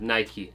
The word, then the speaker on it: Nike: enough he did and he confirmed for us all that should be pronounced as Nike so yes the UK